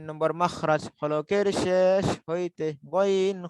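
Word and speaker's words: غين: গইনটা উচ্চারণ হবে বাংলায় গ, এই যে গ রয়েছে না, গ, এই গর মতো, গ গি গু, গ গি গু।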